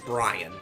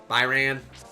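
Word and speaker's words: Byrna: I always pronounce it Brian, but it's like Brian, Byran, Duran.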